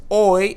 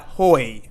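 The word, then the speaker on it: hoy: planes and then here the H is silent again we're going to pronounce this as oi and not hoi abeses means sometimes and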